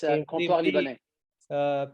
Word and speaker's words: Comptoir Libanais: It's a very difficult word to pronounce. It's French name. Yeah, it's Comptoir Libanais.